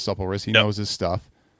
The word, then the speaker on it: Supple Wrist: Yeah, doesn't your average gamer, does he always pronounce it wrong, right? Isn't he like supply it's Supple Wrist.